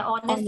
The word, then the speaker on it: honest: क्योंकि साउंड जो है हम इंग्लिश में जैसे हम प्रोनाउंस करते हैं, हम एच को साइलेंट रखते हैं ऑनेस्ट, ऑनेस्टी में.